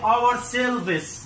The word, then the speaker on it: ourselves: انا واحد مثلا يقول لي ايه our selves, لا اسمها ourselves, ourselves.